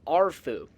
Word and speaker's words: Arefu: So, if my Romanian pronunciation is okay, the proper pronunciation would be a fu. However, some of the characters in Fallout 3 simply say Arfu. Some of them say Afu, some of them say Arfu.